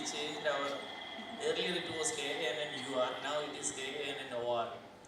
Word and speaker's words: Kannur: So we changed our, earlier it was KANNUR, now it is KANNOR. So still we pronounce it as Kannur.